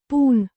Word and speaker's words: pun: The first person singular present form of the verb which means to put or to place pronounced pun.